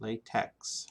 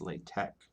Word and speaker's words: LaTeX: is pronounced it's not latex it's latex the x here i think is a greek letter chi so it's like sound